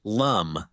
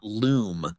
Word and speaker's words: Lum: note on the pronunciation the main protagonist name is pronounced Lum not Loom like the u sound is usually done throughout the book uru yatsura stands as